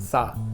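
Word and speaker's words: 死: death this is because the number four written in Chinese is pronounced sa and also the character for death in Chinese is also pronounced sa and the words for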